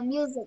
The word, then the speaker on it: music: Còn từ music là âm Z ạ. Đúng rồi. Đúng rồi. Mình chỉ xét cái phát âm của cái chữ S, của phần được gạch chân thôi các bạn ạ. Ok. Cái từ music, âm nhạc ấy, nó được cái chữ S nó được phát âm là music.